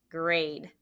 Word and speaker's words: grade: Grade. Mark it up. Okay. Did you put grad? Remember, it should be a vowel-e word. The silent E at the end makes it say A.